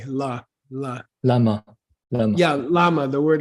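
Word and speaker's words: བླ: Yeah, and can you give me, Gibson, a common word that uses this BLA, la.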